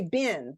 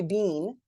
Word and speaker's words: been: Because we usually say been, right? Where you been? Unless you're in England and you probably say bean. They do pronounce that a little bit more with that long E.